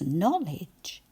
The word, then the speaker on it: knowledge: C at the beginning that we don't hear when we say it. N O no and then ledge. No ledge.